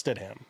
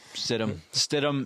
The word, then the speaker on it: Stidham: it it it when you see it it phonetically it's stit ham like if you if you were to sound it out it sounds out as Stam but as culture goes STM is how it's pronounced STM stum stum STM and Moss uh you know yo